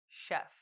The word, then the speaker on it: chef: Please note that the letter S in sugar and the CH in chef are pronounced sh too. Listen carefully. Sh, sugar. Sh, chef.